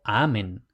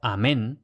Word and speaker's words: amen: amen y aquí oj como habíamos dicho en latín no hay palabras agudas por tanto amen no amén que sino No me